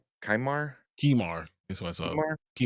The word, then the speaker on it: Qimir: It's Qimir. Kaimar. Kimar. That's what I saw. Kumar? Kimar. Yeah, I forgot how to pronounce it. QI is key, and then Yeah, Mar.